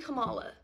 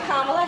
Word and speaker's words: Kamala: So yeah, I'm voting for fucking Kamala. Correct pronunciation of her name have been in the public eye for years. Hi, Kamala Harris.